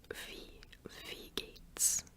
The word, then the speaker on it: Wie geht's: W's in German kind of sound like V's, so yeah, Wie geht's? It sounds like a V.